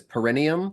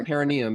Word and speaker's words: perineum: me was uh perenium I used to pronounce it as perenium like it was like a perennial flower I pronounced that wrong for a long time can it not be both can it because it not like can it not be I would say like parum I guess but yeah perineum is the correct pronunciation but leave that one